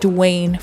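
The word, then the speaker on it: Duane: The mom, I forgot what she said for a girl, but she said Dwayne for a boy. It's spelled D-U-A-N-E.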